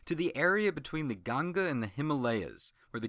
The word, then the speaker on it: Ganga: the Ganga river which in keeping with trying to pronounce things correctly will say Ganga instead of Ganges to the west and